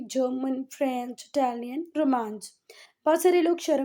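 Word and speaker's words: Romansh: बेटे जब आप इसका गूगल पे प्रोनाउंसिएशन देखोगे तो इसका गूगल पे प्रोनाउंसिएशन कुछ इस तरीके से आता है, रोमांस। जा का प्रोनाउंसिएशन रोमांस ऐसे करके, है ना।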